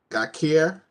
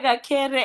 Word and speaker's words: Gakere: Gakir. All right, it's Gakere, and thank you for trying.